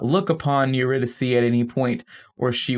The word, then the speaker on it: Eurydice: death incarnate and takes his wife eurydice or in this film that's pronounced eredes and drags her to